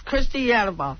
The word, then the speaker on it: Christiana: Yeah, it's Cristiana.